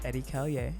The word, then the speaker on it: Edi Callier: can find me everywhere uh my name is eddie kelly and it's spelled e-d-i-c-a-l-l-i-e-r e-d-i-c-a-l-l-i-e-r okay wait one more time